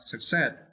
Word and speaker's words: success: and for this verse you need to stretch uh the second syllable set right success uh success right the fact that